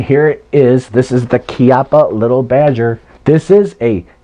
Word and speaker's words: Chiappa: that Chiappa little badger then I'm pronouncing it right by the way because it's Italian Chiappa the thing is made in Italy but it's sold by